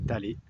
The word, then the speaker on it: Taller: Ça s'écrit Thaler, mais prononcé Talé.